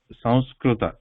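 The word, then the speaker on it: संस्कृत: So we don't pronounce it as sums. Okay? So we do not, though in English we write like this, the pronunciation is not ma sound. So it almost becomes like a cerebral sound, because I was trying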